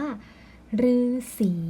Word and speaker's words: ฤาษี: นั่น เอง ค่ะ ฮะ ซึ่ง ตัว รื่น นะ คะ นัก เรียน อ่าน ออก เสียง ได้ แบบ เดียว เลย ก็ คือ อ่าน ว่า เรือ อย่าง เดียว เท่า นั้น นะ คะ ตัว อย่าง คำ นะ คะ ที่ ใช้ หรือ ไป ประสม ด้วย นะ คะ นั่น ก็ คือ คำ ว่า ฤาษี นะ คะ ฤาสาย เรื่อง